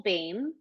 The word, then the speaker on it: Boehm: it's on a mission dot bio slash Bame slash and my name is spelled e l so just recgl and